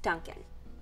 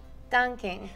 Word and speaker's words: Dunkin': Yeah, and it's actually pronounced Dunkin'. That's what I'm saying, Dunkin'. Well, there's actually no G at the end. It's Dunkin'. Dunkin'. Dunkin'. Dunking.